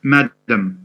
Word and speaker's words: madam: evening yeah yes yeah madam madam stress on the first syllable right i want a